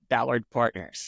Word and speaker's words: Ballard Partners: currently so you are at um is it Ballard firm is that how you pronounce it yes it's called Ballard Partners Ballard Ballard Partners uh you want to tell